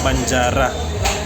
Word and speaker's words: banjara: ha Okay mga katropa ang tamang pronunciation pala sa chicken banjara so narinig na yung